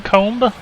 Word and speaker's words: comb: Ah, you don't pronounce the B in comb?